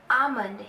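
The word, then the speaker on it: almond: बोला जाता है आमंड आमंड यहां पर एल साइलेंट होता है आमंड मतलब बादाम नेक्स्ट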